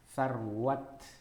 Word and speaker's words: Sarwat: Iya, jadi kayak nama saya Sarwat itu sebenarnya kalau dalam bahasa Arab benerannya sarwah.